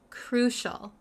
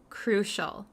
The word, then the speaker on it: crucial: need it so the pronunciation really quick the pronunciation is crucial crucial crucial um sometimes I know some students have a